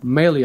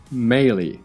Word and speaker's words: melee: Meleler geliyor falan diye tabir edilen, yakın dövüş anlamına gelen kavram melee arkadaşlar. Yani bu mele değil, melee.